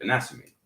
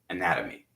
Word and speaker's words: anatomy: Anatomy, they would say in the British dialect, anatomy. But in the American dialect, we would say anatomy. Flap T, Payman says better.